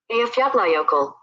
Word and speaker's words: Eyjafjallajökull: So this is the pronunciation of that word. Eyjafjallajökull. Eyjafjallajökull. Eyjafjallajökull. So just in case if you ever wondered, that's how you do it.